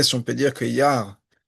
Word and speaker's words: Iyar: Mais comment est-ce qu'on peut expliquer, si on peut dire que Yar, c'est avec un seul Yud, dans le Ani Hashem Ofer, il y a un seul Yud, c'est le Yud de Yud Kevavke.